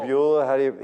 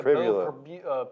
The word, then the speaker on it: Pribula: Pribula, he's from York. We should know how to pronounce it. Yeah, Pribula.